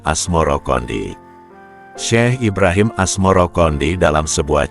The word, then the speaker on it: Asmoroqondi: Sebutan itu mengikuti pengucapan lidah Jawa dalam melafalkan As-Samarkandi, yang kemudian berubah menjadi Asmoro-Kondi.